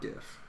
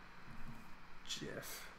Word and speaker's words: GIF: It's GIF, not GIF. It's definitely GIF, not GIF.